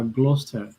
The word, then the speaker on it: Gloucester: oh really but I checked I checked the pronunciation with Google I think uh it it's uh Gloucester it is because it's a share but the